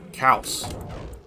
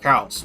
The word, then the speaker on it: Caos: I originally called it Chaos, but apparently it turned out to be called Caos. Because it's an Italian first-person shooter game, actually. So, yeah, Caos. That's basically what it's pronounced.